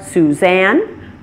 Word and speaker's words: Suzanne: names follow this pattern names that come from languages other than English languages like French may stress the opposite syllable and my name is one good example of that it stresses the second syllable since it's a name that came from the French language other names that do this are Suzanne Monique Michele and Colleen so beware not all